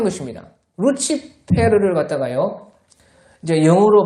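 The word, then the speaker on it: lucifer: 것입니다 그 루시프라는 것은요 라틴어로요 루치페 그렇게 이제 발음을 하는데 루치페르라는 것은요 빛의 운반하는 자다 그러니까 새벽별이라는 빛을 아주 반짝이는 것이다 루치페러라 그래서요 영어 발음으로 하면 루시퍼가 됩니다 루시퍼 그런데요 그 라틴어를요 이제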